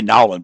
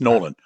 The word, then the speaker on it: Nowlin: I always say Nowlin, but it's Nolan.